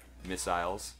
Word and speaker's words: missiles: Missiles. Yeah, dude. Missiles. That's how they say it over in the UK.